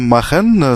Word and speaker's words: machen: Donc le verbe machen, ça se prononce ach, mais ça, enfin, vous le savez aujourd'hui maintenant, ach. Donc machen, on a le verbe.